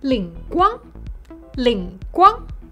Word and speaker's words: 灵光: 灵光灵光 It means divine light. But in Shanghainese, it's pronounced as 灵光灵光 You can use it on almost everything.